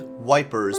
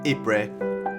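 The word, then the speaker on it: Ypres: a town in ruins dubbed wipers by british troops due to its difficult pronunciation the belgian town of ibre was a key strategic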